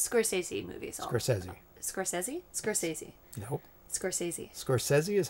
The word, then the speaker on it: Scorsese: movies soresi movies sesi soresi soresi nope soresi soresi is how he pronounces his his own name call it both ways so most people say Scorsese yeah wonder why that is wonder why one